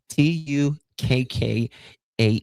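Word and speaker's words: Tukkah: T U K K A H Tukka like oyster shucker, but Tukka.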